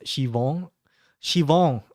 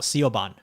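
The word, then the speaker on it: Siobhan: Shivong. Okay. Well, all of you in chat now know that our new Irish-looking waifu is called Shivon, not Sioban.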